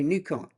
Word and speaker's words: Nikon: And I should say Nikon. That's how you pronounce it.